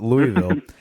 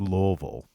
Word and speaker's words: Louisville: And they're like, "You're not saying it right. It's Louisville."